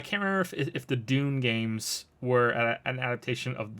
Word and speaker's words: Dune: if they were um Dune not Doom D du NE e uh I know with the way I pronounce things you might be hearing Doom but I I mean Dune um I don't know